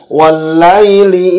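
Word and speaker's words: وَاللَّيْلِ: Wallaili idza yausha, wallaili wa walla, kepada huruf lam ditekan karena ada tasydid.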